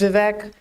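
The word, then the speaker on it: Vivek: And our next speaker is Vivec. Hello, my name is Vive that rhymes with cake.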